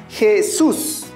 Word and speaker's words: Jesús: a colocar tilde vámonos con la última palabra jesús recuerda que la palabra jesús encontramos dos sílabas donde se encuentra nuestra mayor fuerza de